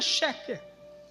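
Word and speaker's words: שקר: Mentira se escreve, se pronuncia chequer.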